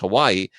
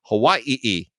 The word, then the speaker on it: Hawai'i: So it's not NCIS Hawai'i, it's NCIS Hawai'i, which is what you're supposed to say if you're going They're being culturally sensitive.